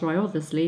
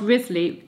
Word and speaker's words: Wriothesley: Right, the famous Tudor chronicler, Charles Wriothesley, some people say Charles Wriothesley, but that's not right, that's how it's spelt, but not said, Charles Wriothesley, or Wriothesley, recorded his execution.